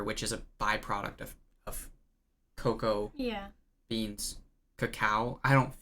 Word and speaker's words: cacao: stuff they were like you don't pronounce it creme de cote cacao it's creme de coco even though it was spelled cacao i don't know